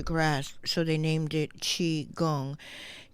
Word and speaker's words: qi: so they named it chi gong chi is though it's spelled q i in this case is